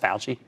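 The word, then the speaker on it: Fauci: Tony Falchi that's FAU ch CI if they use CI but it's pronounced pal G he's an immunologist and director of the National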